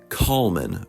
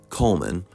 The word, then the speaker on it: Colman: And yes, that is how you pronounce his name, Ronald Colman versus Coleman, there you go, whose memory is already completely foggy.